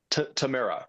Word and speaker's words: Tamara: Tamara. Okay. That's how you would pronounce it here in Israel. Uh, or they might say tomorrow, but either way, it's um I don't know.